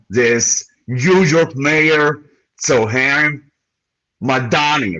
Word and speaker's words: Mamdani: So Madani, right? That's how to pronounce his name.